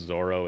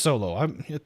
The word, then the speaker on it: Zoro: Problem is when they pronounce Zoro as Zolo. It brings up the rage. Well, yeah, because it is Zolo. That's what it is in the book. It's Zolo. There is no L in Japanese, so it can't be Zolo.